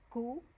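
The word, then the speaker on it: cu: The letter Q is pronounced ku, ku. And when you see the Q, it sounds like, in a word, it sounds like the C in cool.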